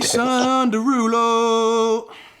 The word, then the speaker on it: Jason Derulo: Jason Derulo.